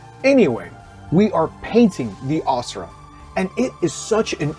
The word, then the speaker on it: Asura: And the Asura, sometimes pronounced Asura, are some of the oldest gods, titans, demigods, and sometimes demons in the world.